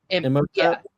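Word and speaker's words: Imhotep: It's Emoteap. Emotap.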